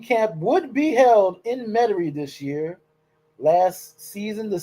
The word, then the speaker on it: Metairie: But now it'll be back in Metairie, as the unwashed, uncleaned out-of-towners like to call it, Metairie, because they can't pronounce it right.